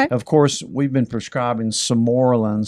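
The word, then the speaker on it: Sermorelin: And of course, we've been prescribing Somorlin. Some people pronounce it Semorelin. I say Somorlin.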